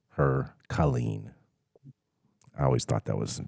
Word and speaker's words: Killeen: lot of time um how do you pronounce this County's name Bell County or the the city then Colleen or what is it Colleen yeah yes clean interesting I don't understand I